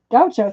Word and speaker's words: Gaucho: I think this is pronounced Gaucho.